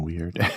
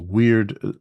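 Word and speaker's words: Wyrd: Uh, weird, spelled with a Y, w Y R D.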